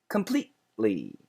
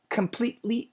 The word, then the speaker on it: completely: a good example yzel because it's not completely completely the t is gone it's not completely it's completely completely so we need that stop so I call that a stop sound so can the T be cancelled No it should be stopped but the ly is